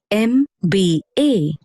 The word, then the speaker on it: MBA: Although M is a consonant, you pronounce it as M, which begins with the vowel sound A, and so the article an is used.